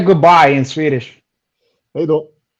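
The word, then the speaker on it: hej då: Hey do. Hey do.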